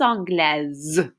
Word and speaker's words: anglaise: would say je suis anglaise. This E makes you pronounce that S like a Z.